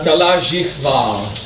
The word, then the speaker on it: KalaJihva: El H La H in Spanish en español is not pronounced. no es pronunciada. It's Sanskrit. En sánscrito It's your Jota. es tu J.